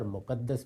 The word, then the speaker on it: مقدس: مقدس بھی اور مقدس بھی دونوں تلفظ صحیح ہیں.